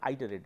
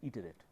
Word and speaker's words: iterate: Remember, this pronunciation is not iterate, its pronunciation is iterate.